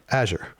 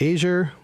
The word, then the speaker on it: Azure: works with Azure and pronounced it Azure. Not Azure, not Azour. I don't know.